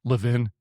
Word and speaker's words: Levin: You got Ben Shapiro, Mark Lean, Levvin. I mean, I always pronounced his name wrong. Levin, was he French?